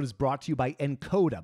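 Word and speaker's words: Nkoda: This episode is brought to you by Encoda. By the way, that's spelled N-K-O-D-A.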